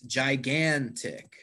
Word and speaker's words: gigantic: perfect gigantic letter c gigantic hollow which syllable did i emphasize gigantic well it's the second syllable this word has three